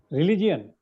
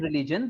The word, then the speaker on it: religion: Religion. Religion. So both with Rel- region and religion, the I is not oh, pronounced. It's simply okay.